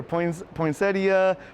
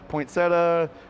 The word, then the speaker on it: poinsettia: without one more question since poinsettia has a few pronunciations i asked woods what does he call this plant i say poinsettia everybody says it different even here poinsettia poinsettia points that's those are the three the oakview